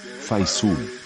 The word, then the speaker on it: facial: Faisul. Wow! It's our first word with 2 silent letters on it.